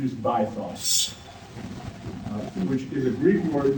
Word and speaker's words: bythos: The triangle's upper point is that red dot, and it is called, traditionally used pronunciation is bythos, which is a Greek word meaning the depth.